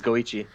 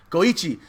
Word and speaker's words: Goichi: __ ] man um how do you say this guy's name he's the Japanese Chun guy the go one is it was it like goate his name is goichi goichi this guy won poke